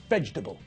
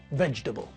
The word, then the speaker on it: vegetable: doesn't have four syllables that word has only got three syllables when we pronounce the word we squash the middle of the word together we don't separate the